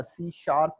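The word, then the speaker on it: C#: इसके बाद हमारे पास एक लैंग्वेज है जिसको सी हैश या सी शार्प बोलते हैं, प्रोनाउंस्ड एज सी शार्प।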